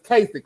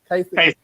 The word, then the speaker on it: Kasich: You don't say it like it's spelled. It's Kasich, right? Kasich.